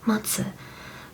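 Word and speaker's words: 松: branches of pine fanatically pine in Japanese is pronounced as matu which also means weight um it was in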